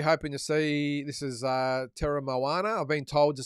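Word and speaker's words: Teremoana: This is Terra Moana. I've been told to say it properly. I've been saying Terra Mona. Apparently, it's Terra Moana.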